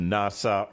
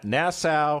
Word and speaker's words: Nassau: three-day cruise out of miami we went to nasa nassau i can't even say the name correctly nassau